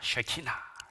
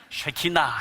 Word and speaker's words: 쉐키나: 말씀입니다 이걸 키나라 합니다 쉐키나 예 발음 잘하셔야 됩니다 쉐키나 해야지 야 하면 큰일납니다 쉐키나 제가 최근에 특별히